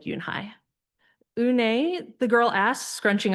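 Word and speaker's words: Unhei: "Younai said, Yunhai." Un? The girl asked, scrunching up her face. Ooh. Ooh. U ne. Some kids chanted. No. No. Yhi corrected. It's spelled U N H E I. It's pronounced Yunehai.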